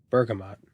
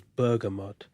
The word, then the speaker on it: bergamot: no expense yeah me let me see how it's pronounced Bergamot that's the American pronunciation the English pronunciation is burgot burgot I don't know whatever